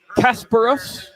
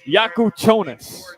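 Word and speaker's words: Kasparas Jakučionis: By the way, I looked up uh the pronunciation for anybody playing along at home, and it is Casperus. Playing along at home. Yakuchonus.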